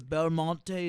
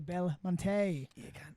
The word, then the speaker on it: Belmonte: what's up boy the belmonte is here the bell montage it's pronounced belmonte you gotta put your hand in there translates to beautiful mountain bella monti oh that makes sense